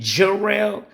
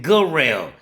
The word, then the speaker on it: Garelle: I know people say his name Jarrell, but in there they call him Garelle, cause it's spelled Garrel. Yeah, yeah. Let me see. Yes, I can spell Garelle. It's G-A. Hold on. It's Garelle. So G-A is not J.